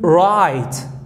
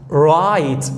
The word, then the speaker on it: write: five five number two right right right notice that the little W is silent here number three lion lion